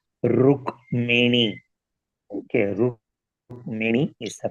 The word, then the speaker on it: Rukmini: Some are pronouncing as Rukmani. ये गलत है, Rukmini.